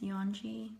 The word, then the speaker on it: Yeonji: It's Yeonji. That's spelled Y-E-O.